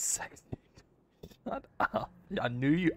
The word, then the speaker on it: CeX: Wouldn't it be pronounced CEX? It wouldn't be pronounced sex, right? That's just fucking strange. Surely it's not fucking pronounced. No, it's sex.